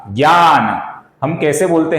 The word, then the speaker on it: ज्ञान: हिंदी में इसका उच्चारण आप सभी को मालूम है, हिंदी में कैसा करते हैं, GYA, ज्ञा, ज्ञान।